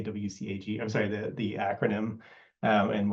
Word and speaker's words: WCAG: You'll often hear people abbreviate this to WCAG. That's the abbreviation I use. You're going to hear a lot of other pronunciations of this as well. So shout out if you've heard WCAG.